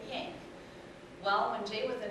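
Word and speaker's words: Yahnke: remember our name being Yank. It's Y-A-H-N-K-E, but Yank.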